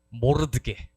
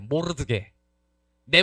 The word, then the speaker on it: 모르드개: 세 번째 모르드게. 발음 제대로 모르드게.네 번째 메인 빌런.